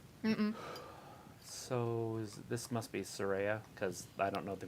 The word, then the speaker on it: Saraya: in between each letter well you say every one of the A's saw Ray uh don't try to